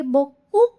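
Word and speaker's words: beaucoup: तो हम क्या बोलेंगे? बोकू ना बोल के क्या बोलेंगे? बोकू. बोकू. क्या बोलेंगे? बो एंड कू.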